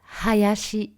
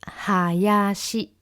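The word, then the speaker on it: 林: famille, le nom de Hayashi Sensei. Hayashi Sensei. Et il se prononce Hayashi. Ha, donc vraiment le H doit être un petit peu forcé pour certains.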